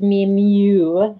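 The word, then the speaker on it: MI.MU: and it is new I was pronouncing any new incorrectly it's me mu the part that was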